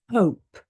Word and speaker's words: hope: in the word long for example hope hope yeah there's an e at the end this is different to hop if you hop a